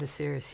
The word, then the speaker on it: Osiris: his once beloved father at the request of Osiris. Is that how you say it? The Egyptian god Osiris, yeah.